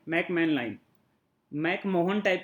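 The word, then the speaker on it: McMahon: नाम है मैन line ठीक है मेला इन मैक मोहन टाइप की स्पेलिंग है पर डिस्को मैकमोहन लाइन बोलते हैं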